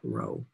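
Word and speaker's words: rho: It's a lowercase Greek letter called row. It's in English, you would write R-H-O, and you pronounce that row.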